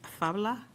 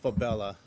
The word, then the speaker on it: Fabella: Our next public speaker is Fabla, also representing UFLAC. It's pronounced Fabella.